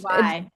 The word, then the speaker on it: Nage: Oh, my last name is Yes, Nage, Nage. Naj.